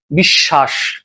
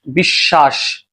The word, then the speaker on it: বিশ্বাস: এখন দেখ আমরা কিন্তু এটার উচ্চারণ কি করি? বিশ্বাস। বিশ্বাস।